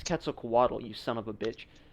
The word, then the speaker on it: Quetzalcoatl: looks so good bro originally first off it's quetzalcoatl you son of a second